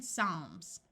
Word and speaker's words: Psalms: F like in laugh when a word starts with PS the p is silent like in Psychology notice the CH uses its second sound of c and in Psalms when a word starts